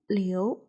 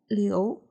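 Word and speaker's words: 刘: The pinyin of character Liu follows the second tone, so it is pronounced as Le, Yu, Liu. If you would like to, you can follow me. Le, Yu, Liu, Le, Yu, Liu.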